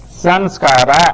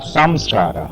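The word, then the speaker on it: संस्कार: You may, instead of M, you may say N also. Sanskara or samskara. I am a South Indian brought up in northern India. In South India they pronounce it as samskara, in northern India as sanskara. So I can use both M and N and I will be qualified to use that.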